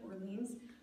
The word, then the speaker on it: Orleans: I know this is not the French pronunciation of Orleans, raised a question on this.